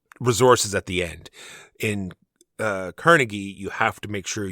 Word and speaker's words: Carnegie: The proper enunciation is Carnegie, but everyone else uses Carnegie, so that's why I just went with the common pronunciation.